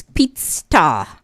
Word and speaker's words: Peetstar: It's Peetstar. double E.